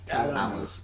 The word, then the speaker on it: Talos: Talos. Yeah. Talos sounds right because that's how they pronounce it in Skyrim. It's spelled the same way.